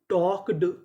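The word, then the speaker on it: talked: जैसे टी एल के इसे पढ़ेंगे टॉक। यहां पे एल हमारा साइलेंट रहेगा।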